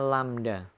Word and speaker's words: lambda: Panjang satu gelombang atau panjang gelombang ini disimbolkan dengan simbol atau lambang seperti huruf Y tapi dia terbalik atau dibacanya lambda.